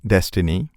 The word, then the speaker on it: DSSTNE: On a side note, when Amazon open sourced their proprietary library for building deep learning neural network algorithm named DSSTNE, pronounced as Destiny, we came to know how its recommendation engine could achieve such good accuracy.